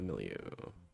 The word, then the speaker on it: milieu: period of profound change in the internal hormonal milieu, or whatever. I don't know that word. How do you pronounce that?